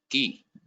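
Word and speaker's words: qui: where you use who it is key k i the pronunciation is k i key and when you write it it is q ui it's key what is coop what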